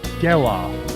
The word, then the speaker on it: Gelof: It's Geloff, like sell-off, but Geloff. I keep emphasizing the off, but you emphasize the Gel.